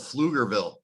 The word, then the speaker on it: Pflugerville: I was living in a town called Pflugerville. Okay, so it's spelled PFLU.